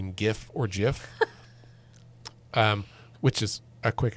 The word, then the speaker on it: GIF: That's a J. It's clearly GIF."